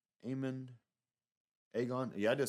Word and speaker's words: Aegon: Aegon.